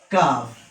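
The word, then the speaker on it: كاف: This shape without any diacritical mark is called kaf. It is a light letter. Its pronunciation in English is K-A-A-F, kaf. It is a light letter, therefore we pronounce it lightly like kaf, kaf.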